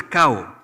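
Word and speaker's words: kau: you it is always it is spelled as K Au and not cow as a copy cow they will address you as cow no matter if you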